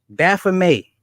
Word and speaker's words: Baphomet: stop you right there bad for me in this movie is given the French pronunciation but if you look it up it's spelled with the T okay you're real slick